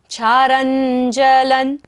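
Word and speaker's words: क्षारं जलं: क्षारञ्जलन, रा के ऊपर बिंदी है और बाद में क्या है? ज, तो बिंदी का उच्चारण क्या होगा? न।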